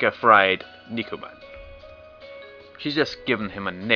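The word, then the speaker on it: 肉まん: Okay then, how about Nukuman? You like those, right? 好きでも食べ物の名前なんてやだ。 It's pronounced Nikuman, right? How about...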